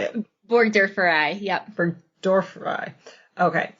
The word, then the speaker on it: burgdorferi: Burgdorferi.